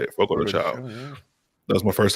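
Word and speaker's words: Fogo de Chão: but yesterday we went out to eat at Fogo de Chao. I think that's how you say it. Fogo de Chao.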